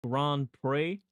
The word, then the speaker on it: Grand Prix: Moab, I'm pretty sure it's pronounced Grand Prix.